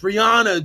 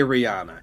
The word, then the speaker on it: Rihanna: old and not cool and not hip it's Rihanna dude it's Rihanna and so he's I'm sorry